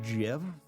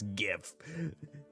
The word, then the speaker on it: GIF: It's actually pronounced Jiff. Fuck off, it's GIF. And the only reason why I refuse to call it Jiff is because to me, Jiff is a couple other things, right?